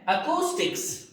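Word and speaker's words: acoustics: ध्वनि विज्ञान, ध्वनि से रिलेटेड या ध्वनि विज्ञान प्रोनाउंसिएशन है अकूस्टिक्स, अकूस्टिक्स।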